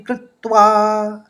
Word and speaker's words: कृत्वा: कौ के ऊपर आघात है तो पहले आप कृत बोलेंगे, फिर त्वा बोल देंगे। तो इस तरह से उच्चारित करेंगे, सुख दुखे समे कृत्वा।